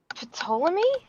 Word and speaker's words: Ptolemy: The P is silent in Cleopatra's, Okay, thank you.